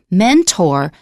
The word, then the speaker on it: mentor: However, sometimes we may pronounce it as or. For example, the word mentor, both are correct. So sometimes it is or.